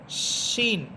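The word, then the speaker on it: ش: এরপর শিন, আওয়াজটা অনেক বড় হবে, শিন সের শি, শি।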